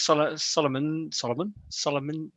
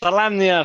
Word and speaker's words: Solamnia: So when he appealed to the Knights of Solomon. How do you say that? Solamnia, thank you.